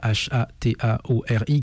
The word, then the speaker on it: Hataori: groupe Facebook he bien entendu sur euh euh Hataori, donc euh H A T A O R I, comme ça se prononce.